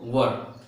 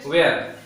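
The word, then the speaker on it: were: वाज को exact में pronounce किया जाता है वॉज एंड वेयर को वर, कुछ इस तरह। इसे जनरली लोग वाज कहते हैं, ऐसे वेयर, लेकिन इसका एग्जैक्ट प्रोनाउंसिएशन वॉज। देखिए ध्यान से, वॉज, इसका प्रोनाउंसिएशन वॉज होता है, वॉज, इट वॉज। एंड इसको वेयर नहीं वर बोलेंगे।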